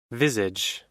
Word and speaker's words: visage: what does google say what does google say visage with a z sound really visage this all